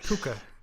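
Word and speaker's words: Pukka: No, I think they're pronounced puka.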